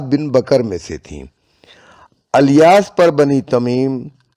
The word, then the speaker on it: الیاس: معد بن عدنان۔ الیاس، بعض مصنفین نے اس نام کا تلفظ الیاس لکھا ہے، لیکن سہیلی نے روز الانف میں الیاس ہی کو صحیح قرار دیا ہے۔ بلاذری نے بھی انساب الاشراف میں اس نام کا یہی تلفظ لکھا ہے۔ اس سلسلہ نسب